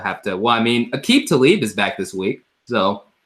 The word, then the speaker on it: Aqib Talib: Well, I mean, Aqib Talib is back this week, so at least the secondary will be back intact, 100% now. But Aqib Talib.